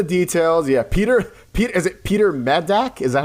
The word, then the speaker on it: Medak: go into the details, Peter Is it Peter Medak? Is that how you pronounce it? Medak? Yes, Medak.